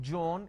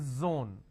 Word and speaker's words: zone: not jibra it's zebra it's not john it is zone it's not g it is zeal it's a z sound another mistake that people